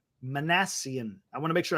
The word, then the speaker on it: Minasian: Zack manassian I said it wrong earlier it's manassian I want to make sure I get that